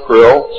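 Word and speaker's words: Krll: name and title was his omnipotent highness krill pronounced krill spelled krl in the american tradition of disdain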